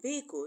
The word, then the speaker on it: vehicle: The in vehicle is silent.